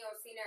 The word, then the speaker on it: Occena: Do I pronounce it correctly? You do. Okay. Danny Occena.